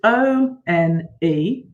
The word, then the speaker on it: one: This is hard because it's O-N-E, O-N-E, one. So you'd think that would begin with a W, wouldn't you? But it doesn't.